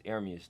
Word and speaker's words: Ermias: It's Ermias though. That's how you say it.